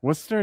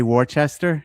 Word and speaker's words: Worcester: Worcester, did I say that right? Yeah. Okay, would we in the States say Warchester if we saw it if I saw it?